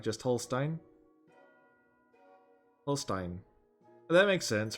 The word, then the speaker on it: Holstein: Holstein is pronounced like Holstein. Oh, like just Holstein? Holstein. That makes sense, right? It's like Frankenstein, but Holstein instead of Frank, right?